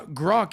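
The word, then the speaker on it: Grok: I pronounce it Grock, not Groank.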